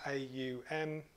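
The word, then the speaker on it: Aum: the clasp by chanting on once three syllables a-u-m okay sitting up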